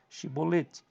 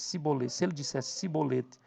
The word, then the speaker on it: Shibolete: Então dizia, diga, isso aqui é muito interessante, diga a Shibolete, então diga, Shibolete, se ele dissesse Sibolete, sem conseguir pronunciar corretamente a palavra, prendiam-no e matavam-no no lugar de passagem do Jordão.